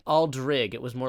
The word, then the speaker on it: aldrig: it kind of depends where you are in Sweden. Like, it depends on which accent you have. Where I live, it's Aldrig. Okay. So here you pronounce it, but if you use the Google Translate, you use it more like a big city Swedish type of thing, which is as you pronounced it.